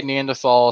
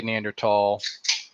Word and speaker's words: Neanderthal: Some people say Neanderthal. Some people say Neanderthal. It is what it is.